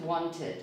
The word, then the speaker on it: wanted: Whereas in the verb want and the verb end, both words end in T or D, then we do pronounce this ending like that.